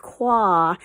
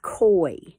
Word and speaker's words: koi: there and sure enough it's not pronounced qua it's pronounced koi but i'll never forget